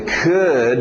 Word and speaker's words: could: Pronúncia could, mas na escrita parecia cold.